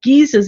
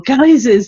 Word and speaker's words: geyser: on our own planet we call them geezers or geysers depending on how you pronounce it so these ejections of